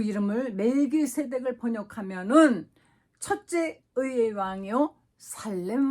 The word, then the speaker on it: 멜기세덱: 그 이름을 멜기세덱을 번역하면은 첫째 의의 왕이요 살렘 왕이니, 바로 멜기세데크라고 읽기도 하죠.